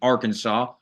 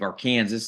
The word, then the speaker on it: Arkansas: great hounds to head for the University of Arkansas or the University of arcan this as some people will pronounce it in an analyst role basically it's